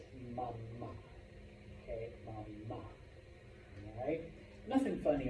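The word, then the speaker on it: mamá: Okay, so yeah, pronounce that last A. For mom, class F, please repeat, mama. Mama. Okay? Otherwise, you're just saying mama.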